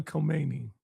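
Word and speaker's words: Khomeini: How you pronounce that dude's name? Ayatollah Kmeni.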